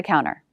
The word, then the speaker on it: counter: it was on the counter note with this word some americans drop the t after n so it sounds like counter the coffee pot's on